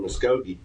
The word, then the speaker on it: Muskogee: Muskogee? Is that right? Muskogee? Yeah. So I was up in Muskogee.